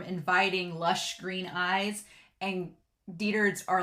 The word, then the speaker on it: Dietfried: Okay, it is Diethard.